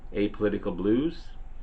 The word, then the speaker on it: Apolitical Blues: is a song called a apolitical blues and that's just how